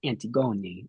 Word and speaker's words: Antigoni: And I loved how very early on you were like, "My name is pronounced antiggoni."